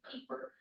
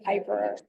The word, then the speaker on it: Pieper: it was Pieper, but what happened, I mean, the German pronunciation is Pieper, but they changed the spelling because they wanted it pronounced right versus. Oh, yeah. So, because people pronounced it Piper. Okay. Yeah. But the IE would be pronounced Pieper in German and Yeah. probably Piper in English.